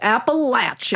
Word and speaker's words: Appalachian: Appalachin.